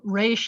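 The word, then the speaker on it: ר: is oh and remember the rash is not a r it's not it's back here oh so it's kind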